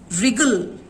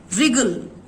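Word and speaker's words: wriggle: Okay, रिगल, यहां पे W का साउंड साइलेंट आएगा, रिगल। सो W होते हुए भी W का वो साइलेंट है, हम इसको कैसे रीड करेंगे, रिगल। RI का ही प्रोनाउंसिएशन सुनाई पड़ता है, रिगल, राइट, रिंकल।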